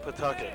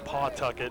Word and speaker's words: Pawtucket: if you go back to new england it's pronounced pawtucket anywhere else in the country they call it pawtucket and the people from that city in rhode